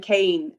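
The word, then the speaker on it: Keane: from i should hear she would pronounce her name kane um because she was from northern ireland and um she had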